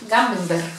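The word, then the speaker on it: Camembert: Esto es un queso, el Gamembert, se le pronuncia así, cremoso.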